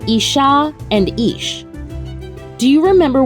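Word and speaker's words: איש: The two words are pronounced isha and ish.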